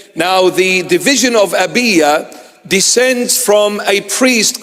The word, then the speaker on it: Abijah: from the division of abijah or the proper pronunciation is abya or Aya abya or Aya and one